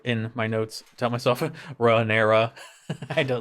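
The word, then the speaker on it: Rhaenyra: I enjoyed the talk between the queen that never was and Rea. Sorry, I said her name wrong.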